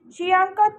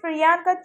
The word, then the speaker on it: Priyanka: are not happy however Andy struggles to pronounce priyanka's name correctly and calls her shanka Choy much to Adel charin